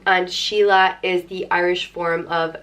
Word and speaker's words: Síle: The next name is Síle, and it means musical, and it's pronounced Síle. Síle, and it can be spelt with or without a fada, but both ways it's pronounced the same way, Síle.